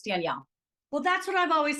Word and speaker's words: Danelle: It's Danielle. A lot of people say it wrong because they pronounce it wrong because of the no I, but it's Danielle.